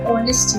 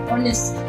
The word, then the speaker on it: honest: pronunciation for the word honest is oh h is basically silent as earnest man that